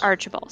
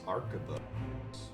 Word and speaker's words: Arquebus: Archibald. Yeah. See, like, okay. How do you spell that?